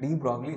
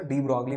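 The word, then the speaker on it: de Broglie: तो वैसे इसका नाम जो है वो प्रोनाउंस करते हैं डी ब्रू, लेकिन स्पेलिंग याद रखने में फिर मुश्किल होगी, तो इसलिए मैं इसको डी ब्रॉगली पढ़ता हूँ।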